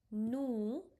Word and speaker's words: nous: Nous, Nous. S we don't have to pronounce because we just have to pronounce C, R, F and L. So it become nous.